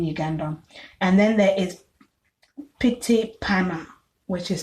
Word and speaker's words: Pyttipanna: And then there is Pitipana, which is spelled Pyttipanna.